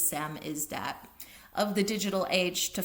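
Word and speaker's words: samizdat: The program successfully provided the technical infrastructure that allowed the Samis Samisdat I always pronounce it wrong. S A M I Z D A T I think it is Sam is that of the digital age to flourish.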